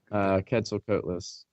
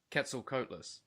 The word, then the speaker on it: Quetzalcoatlus: Quetzalcoatlus. Quetzalcoatlus.